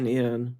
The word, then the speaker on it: Guinn: It's Guinn. So okay. Well, he mentions that might pronounce it Gunn, but it's spelled Gwyn.